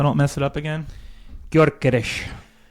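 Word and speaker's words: Gyökeres: Phil, can you pronounce the name for me so I don't mess it up again? Gorgees.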